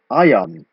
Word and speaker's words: ajan: So you can see the K disappears, but the I becomes a J, just because it sounds like ajan, like a Y sound exists.